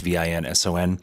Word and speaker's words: Vincent: First name is Vincent. It's Vinson.